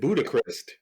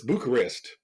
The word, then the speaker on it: Bucharest: You said Budapest. Oh, I it's, didn't pronounce it? it's Bucharest, I think. Make me second guess myself. It's Bucharest. Oh, Bucharest.